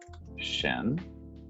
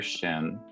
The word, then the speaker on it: Xin: It was buried with Emperor Shin. Mm-hmm. Remember that Shin is one moment. Remember that Shin is spelled Xin.